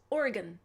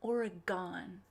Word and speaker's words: Oregon: say willamette willamette and it's oregon not oregon i got i get